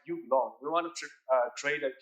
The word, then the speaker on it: Ubiloan: is business we're engaging so you belong is a pronunciation it's like you belong we want to trade